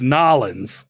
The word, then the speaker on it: New Orleans: West Virginia yeah or when you say New Orleans yeah it's nollans New Orleans nollans do it right boy I got I